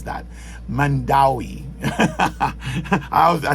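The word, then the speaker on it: Mandaue: tell me correct me on how to actually pronounce that Mandi I I say mandow but it's actually pronounced Mandi you go to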